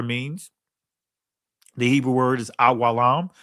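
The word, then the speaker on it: עולם: The Hebrew word is awalam, and I'm saying it in the ancient Hebrew pronunciation because there's no O sounds in ancient Hebrew or U sounds. So awalam, right? Every letter is pronounced as a syllable.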